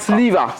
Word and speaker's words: Siliva: Il s'appelle Siliva. Siliva, et Siliva. c'est toujours un malgache. Oui, c'est un malgache. Alors, on a du mal à prononcer parce qu'il commence par T, Oui. S-I-L-I-V-A. D'accord. Sliva.